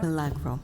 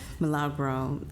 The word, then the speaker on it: Milagro: And we are proud to introduce the DeKalb County Chief Sustainability Officer, and that is Milagro. Milagro? Milagro? Milagro.